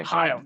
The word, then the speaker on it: L'chaim: Whenever you hear the Jews say L'chaim, that's it. Okay. L'chaim. That's how you pronounce that.